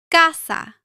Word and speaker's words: casa: Before A, O, or U, it usually sounds like the English K. For example, casa.